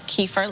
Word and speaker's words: kefir: This is kefir. Some people pronounce it kefir, like Kiefer Sutherland.